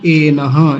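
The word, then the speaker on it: एनः: में जुड़ा हुआ है एनह, या एनो जो लिखा हुआ है ना, वो देखिए एनो, मेनो लिखा हुआ है ना, मेनो मेनो नहीं है, वो एनो है, तो एनो को एनह लिखा।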